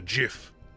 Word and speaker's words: GIF: How do you pronounce it? I mean, I pronounce it as GIF. Because I'm not, what's the phrase? A douche canoe. There's actually a war amongst my people. Between the GIF and the JIF.